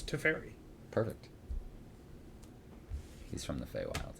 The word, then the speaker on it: Teferi: certainly do not yeah there's an official correct pronunciation and it's to fairy perfect he's from the